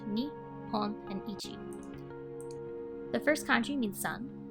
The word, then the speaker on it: 一: we have one day the first country is pronounced as Ichi this is probably the most common pronunciation for this kanji in my experience the